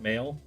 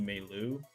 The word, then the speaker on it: Mayl: they don't sound like this person's name is Male, right? Mayl, Male. And I don't think that that's really what they intended her name to be. I think it's supposed to be Meilu. That's how they say it in the anime.